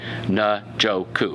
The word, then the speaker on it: Njoku: All right, Njoku. I got it, fans. I keep messing up his name. David Njoku.